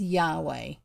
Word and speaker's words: Yahweh: the top name for god is what we pronounce as yahweh which has vowels in it but it was